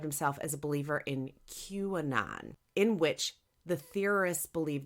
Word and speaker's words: QAnon: no fucking idea what QAnon is? Well, here's the Cliff Notes Can you version. spell that? It's Q, capital A, and then N-O-N. So it's like Q. Gotcha. Anon, Yep. like anonymous.